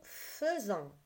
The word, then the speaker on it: faisons: fait elle fait nous faisons ça s'écrit a I et ça se prononce e nous faisons vous faites vous faites